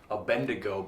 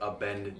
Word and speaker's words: Abednego: when i realized that it's not a bendigo but abandoned yes i'm so glad i was i was actually going to bring that up yeah a bendigo is not the the proper way to say it be like a bendigo